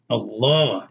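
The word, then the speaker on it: الله: And you notice that in Allah, you see a shadda over that second one with a fatah, right? Allah. And it's pointed upwards to show you that you elongate that pronunciation. That's why some of us, when we write Allah with English letters, we put two A's there to tell you it's elongated. Allah.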